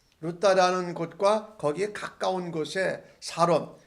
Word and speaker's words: 사론: 이 베드로가 예수 그리스도께서 낫게 하신다 하고 선포할 때에 그 여인이 곧 일어난 이 사건을 통하여서 루다라는 곳과 거기에 가까운 곳에 사론, 영어 발음은 샤론인데 거기 사는 사람들이 다 그것을 보고 그를 보고 애니아가 낳은 것을 보고 주께로 돌아왔다라고 말합니다.